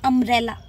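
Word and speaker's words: umbrella: क्योंकि आप ये देखिए ये वाली प्रोनाउंसिएशन आपको देखनी है, ये हमें सुनाई आ रही है, इट मीन्स अम्ब्रेला। अम्ब्रेला अ से शुरू हो रहा है।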